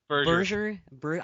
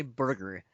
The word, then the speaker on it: Berger: Joe how do you say his last name? Berger. I always want to say Burger.